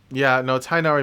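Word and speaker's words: Tighnari: no no no the I I looked at his name and I didn't know how to pronounce it so I said die first because it's just missing the H right next to the T right so and then nari yeah I think I think I think I pronounced his name right the first way tainari makes the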